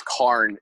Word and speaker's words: cairn: It's Carn. It's a Scottish Carn. Gaelic word.